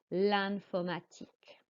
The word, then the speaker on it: l'informatique: And for l'informatique, the I is pronounced like an A. Écoutez et répétez l'informatique.